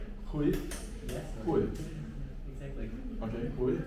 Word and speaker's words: Huy: Hui. Huy?